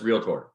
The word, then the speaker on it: realtor: real Authority it's just like there's no doctor tour so make sure you're saying realtor right it's just realtor um it's really funny